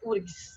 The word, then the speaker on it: UFRGS: O F é mudo. Tá. Né? Então, é URGS.